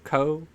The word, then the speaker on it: Cau: true because paleontologist Andrea, however you pronounce his name, Cau. It's his last name is Cau Co.